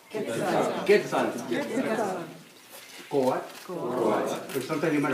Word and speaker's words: Quetzal: So when you say Quetzalcoatl, now I'm saying Quetzal. Say Quetzal. Quetzal.